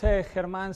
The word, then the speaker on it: Germán: I'm not German, even though it's spelled German. I'm originally from Spain. And the G is a little bit of like clearing your throat, like, so that's the way it goes.